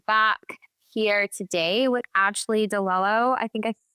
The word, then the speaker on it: Di Lello: Excited to be back here today with Ashley Dello. I think I pronounced your name right. Is that right? Yeah. Dello.